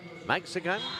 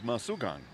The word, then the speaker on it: Masugan: Number five, Carlos Maxigan. I think I pronounced that right. And I apologize if it's wrong, Bill. You probably have it. Delivering better than I did there. But that was a great effort by Carlos. Carlos Masugan. There you go. Thank you, Bill. That is the exact pronunciation.